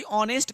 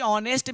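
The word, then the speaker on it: honest: बिल्कुल अभी देखिए कि ऑनेस्ट का प्रयोग कर रहे थे हम लोग, यहाँ पे देखे कि ऑनेस्ट मेरा था, यहाँ पे तो एच है, ना कि ए है, ना आई है, ना ओ है, ना यू है, तो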